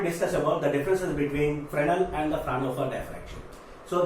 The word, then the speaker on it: Fresnel: Okay, Fresnel diffraction, S is silent here, and here Fraunhofer diffraction. Okay, Fresnel and Fraunhofer diffraction.